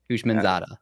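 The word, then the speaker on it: Houshmandzadeh: a h-o h-o i i pass it's h-o-u-s-h-m-a-n-d-z-a-d-e-h menzada you got pretty close brad last word devon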